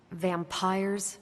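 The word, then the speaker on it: vampyres: said they were vampires vampires with a why pronounced exactly the same as vampires I suppose that was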